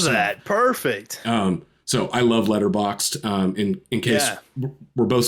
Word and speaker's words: Letterboxd: So I love Letterboxd. In case we're both saying it over and over again, but how you spell it is like letterbox, like where you buy